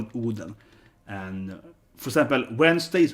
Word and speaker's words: Oden: So if you read old Swedish, like Odin, it's pronounced Oden with an E. So in modern Swedish, we call it Oden.